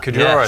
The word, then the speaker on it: Cordura: Fully made out of Cordura, is that how you say it? Cordura, so really hard wearing